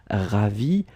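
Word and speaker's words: ravie: You put this extra but then remember that you don't pronounce it, so it's exactly the same pronunciation whether it's for a man or a woman. Ravi de vous connaître.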